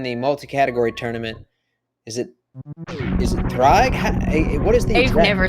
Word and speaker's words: Ddraig: straightforward, but during the multi-category tournament, is it Ddraig?